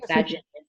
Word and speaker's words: vaginismus: It can cause, but I'm going to butcher this pronunciation, but vaginismus, I'm pretty sure is how it's pronounced, but basically like pain during sex and all these things.